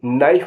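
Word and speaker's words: knife: knock माने खटखटाना के एन आई एफ ई नाइफ माने चाकू के एन ओ टी नॉट नॉट माने गांठ एल साइलेंट होगा उनके बारे में आपको उन वर्ड्स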